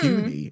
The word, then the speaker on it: puny: I was like, why does he keep calling him punny? He doesn't say puns. And they're like, it's puny. It's puny.